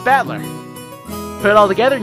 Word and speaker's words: Battler: own name that is made up of the characters for fight and person so it's pronounced battler put it all together